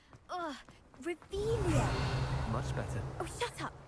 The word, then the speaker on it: Revelio: Revelio. Haven't been over here yet, so checking items. Looking for the blasted thing in the first place. Where are you? Rebellious. You're saying it wrong. Ugh, Revelia.